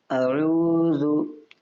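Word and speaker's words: أعوذ: حمزہ ہوا کرتا ہے۔ اس چیز کو آپ یاد رکھیں، اور آئیے پڑھتے ہیں۔ ہجے کریں۔ حمزہ زبر ا، عین واو پیش عو، ذال پیش زو، اعوذ، اعوذ، بازر بی، بازر بی۔ اب اس کو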